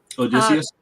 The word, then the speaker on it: Odysseus: And basically Odysseus, is that how you say his name? Odysseus.